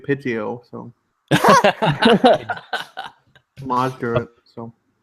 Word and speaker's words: Pidgeot: Pidgeotto then. Pidgeot is Yes, pronounced Pidgeot.